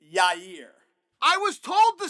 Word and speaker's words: Yair: Other people told Yair. me I'm throwing an extra R in there. You are. You're saying your ear. Yes. It's Yair.